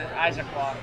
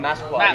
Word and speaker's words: Massaquoi: James Harrison had that crushing hit on Muhammad Isaaclaw. How do you pronounce his name? Muhammad Massaquoi, yeah.